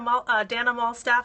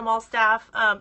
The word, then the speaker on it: Malstaff: I love Dana Malstaff. I just said her name wrong. Dana Malstaff.